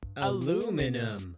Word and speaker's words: aluminum: Par exemple, ce métal, en Angleterre, aluminium. Et en Amérique, aluminum.